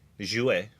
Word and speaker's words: jouer: If it's even French, it is Jouer.